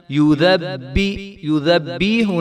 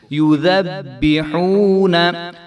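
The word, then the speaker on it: يُذَبِّحُونَ: العذاب، یسومونکم سوء العذاب، یذبحون، یذبیحون نہیں کریں گے اس کو، یذبحون ابناءکم، اب، تو با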